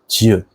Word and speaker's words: 지읒: The next one is 지읒. It looks like this, and it sounds similar to English J sound.